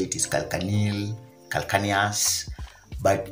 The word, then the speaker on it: calcaneal: Very many people spell it differently. Some people say it is calcaneal, calcaneus, but it's a growth that normally results